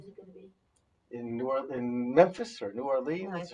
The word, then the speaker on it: New Orleans: And one of the stops is New Orleans. Got to say it right. New Orleans. It's like 2 syllables.